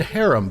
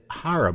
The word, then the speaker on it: Harum: A Whiter Shade of Pale by Procol Harum, however you want to pronounce it. I've always said harem, but now that you mention it, it's harem.